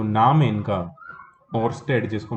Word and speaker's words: Oersted: को हैं तो मैंने यह जो नाम इनका और स्ट्रेट जिसको मैं बोलता हूं इसको लोग अलग-अलग तरीके से बोलता है कुछ लोग इसको और स्टेट भी बोलता है और स्टाफ को साइलेंट करके